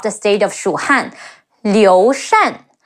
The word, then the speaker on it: Liu Shan: state of Shu Han, Liu Shan. L-I-O, Liu, Shi An, Shan. Remember the rule? Shi An, Shan. Liu Shan.